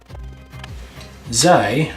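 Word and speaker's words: ze: And it's simply pronounced E. Zij, for both she and they, also has a shortened version, which is pronounced z.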